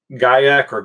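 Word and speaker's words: guaiac: cardamom you get cedar guy a Korg yyk wood both are acceptable pronunciations vetiver in the bass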